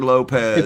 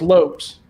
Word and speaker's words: Lopes: Hey, is it Lopes or Lopez? It's Lopes. 'Cause Lopez. No, it's Lopes, like envelopes.